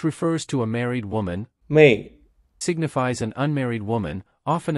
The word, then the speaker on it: 妹: The character Mei sounds similar to male, and we can imagine unmarried women having more time to send mail.